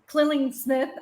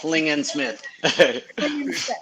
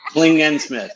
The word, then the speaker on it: Klingensmith: him on Instagram today's guest was Nick K killing Smith I I screwed it up at the beginning